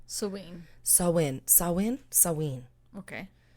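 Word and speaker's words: Samhain: was called salween but it's spelled s-a-m-h-a-i-n but it's pronounced saween sawing so in sawin sawin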